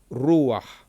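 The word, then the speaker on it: רוּחַ: So the patah is said before the het in this case.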